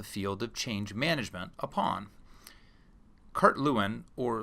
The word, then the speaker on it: Lewin: of change management upon Kurt Lewin or Levine as it should be pronounced in the original German was a great pioneering